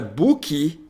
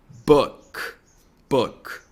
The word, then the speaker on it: book: Então, a pronúncia dessa palavra aqui não é book e nem book, mas book.